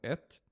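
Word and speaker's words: את: Ela não tem nem pronúncia direito. Eles colocam um e ali para pronunciar como et, né?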